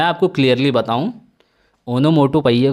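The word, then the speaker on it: onomatopoeia: ओनोमोटोपोइया, ओनोमोटोपोइया, ओनोमोटोपोइया, इसकी स्पेलिंग भी लर्न रखिएगा दोस्तों, इनकरेक्ट स्पेल्ड वर्ड में एसएससी ने कई बार इसको पूछा है।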